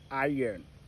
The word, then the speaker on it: iron: Alors, je voudrais que tu retiennes à partir de maintenant que ce mot, ce n'est pas iron, mais c'est plutôt iron. Iron. Donc, ici, le R est silencieux. Donc, the R is silent.